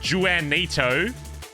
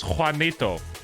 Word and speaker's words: Juanito: how you say it it's not it's not janito it's Juanito yes see told you yeah